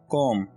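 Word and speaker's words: comb: कंघी को इंग्लिश में कॉम कहते हैं, कॉम। यहाँ पर आपने बी को साइलेंट कर देना है और बी को प्रोनाउंस नहीं करना, तो ये वर्ड होगा कॉम, ठीक है।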